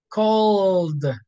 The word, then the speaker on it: called: use tea cooked looked called with a D sound and all these verbs